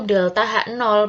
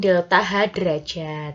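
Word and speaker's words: ΔH°: yaitu delta H 0 ingat ya bahwa membacanya yaitu delta H 0 Bukan delta H derajat F Hai untuk perubahan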